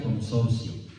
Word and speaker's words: Consortio: Una se llama Familiaris Consortis, Familiaris Consortio, Familiaris Consortio, con T al final, se pronuncia consorcio, Familiaris Consortio.